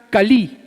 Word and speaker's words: Kali: Otro ejemplo, por ejemplo, la diosa Kali, a Kale le dicen algunos, se escribe con K, es la diosa de los ladrones y de los asesinos.